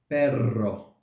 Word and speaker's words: perro: of each Israel and the third keys we produce the sound when we have a double ER like in this third row perro Maron perro Maron which in English